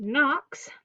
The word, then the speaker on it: Knox: Okay, next page we have silent K in the word Knox.